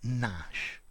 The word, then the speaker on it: gnash: Notice the G is silent. Gnash.